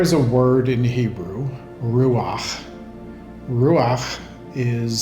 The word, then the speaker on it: ruach: So there is a word in Hebrew, ruach. Ruach is spelled R-U-A-H or R-U-A-C-H.